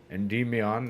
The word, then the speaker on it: Endymion: Endymion, not ENDYMION or whatever I said originally.